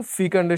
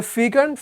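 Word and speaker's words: fecund: তাহলে ফ্লিটের সাথে স্লো এটা মোটামুটি মানে অপোজিট মিনিং দেয়, ঠিক যেরকম ফিকান্ডের সাথে ইনফার্টাইল অপোজিট মিনিং দেয়। এটা ফিকান্ড, ফেকান্ড দুইটা উচ্চারণে হয়, হাউএভার ইউ প্রেফার।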